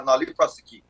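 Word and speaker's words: nolle prosequi: called a nolli prosequi, or the pronunciation tends to vary, but it's a nolli prosequi.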